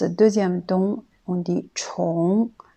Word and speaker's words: 重: Ensuite, le mot 重, quand c'est le quatrième ton, on le prononce 重.